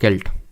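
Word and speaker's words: celt: नवपाषाण काल में व्हाट इज अ सेल्ट और केल्ट? तो एक्चुअल में सेल्ट इसको प्रोनाउंस करेंगे।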